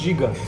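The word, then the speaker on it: Žiga: Giga. Giga. Or you can remember giga, like gigabyte. This is the easier way to remember. No, gigabyte. Giga. But you can say giga, but we say giga.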